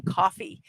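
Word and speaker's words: Ko-fi: I've been pronouncing this Kofi. I'm going to now change it to coffee at Mrs.DadmanWalking55, or you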